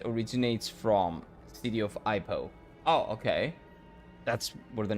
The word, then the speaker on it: Ipoh: It's pronounced Ipoh.